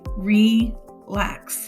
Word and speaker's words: relax: divided before the consonant if i divide before the consonant we have an open syllable which means a long vowel sound so this would be relax relax that sounds like